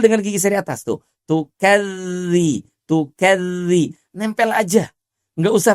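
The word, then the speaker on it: تكذبان: Tidak tukazzi tapi tukadzi. Tukadzi tuh tukadziban ya.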